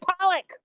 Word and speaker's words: Polak: It's pronounced Pollock. It is pronounced Pollock.